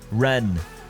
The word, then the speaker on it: Rennes: that I absolutely despise, including Rennes, or somebody told me it's actually pronounced Ren, and I was like, I don't care.